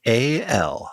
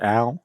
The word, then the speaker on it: A.L.: And it's from A.L. Christian, most of us would pronounce that Al, but I like what you did. It's A.L.